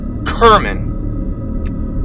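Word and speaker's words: Cerman: we all knew her her name was Gail Kerman pronounced Kerman she was an art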